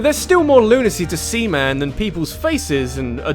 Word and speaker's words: Seaman: Though it really isn't Semen like I'm sure you'd love me to say for the rest of this segment, as it's spelt like Seaman, as in man-sea creature.